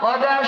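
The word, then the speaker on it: قضى: আল্লাহ তাআলা এখানে ওয়াকাদাম, কদা শব্দটি ব্যবহার করেছেন, যা এখানে কুফ এবং দাদ দিয়ে উচ্চারণ করা হয়, যাকে আমরা বাংলায় কাজী বলতে পারি।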